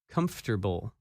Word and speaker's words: comfortable: That word is uncomfortable, and its opposite, comfortable. When you say this word, you do not pronounce some of the letters that you see in the written word.